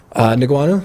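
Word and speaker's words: Ngannou: So to go into MMA, How do you it pronounce wouldn't- Francis' last name? Who? Francis' last name, big heavyweight. Niguanu?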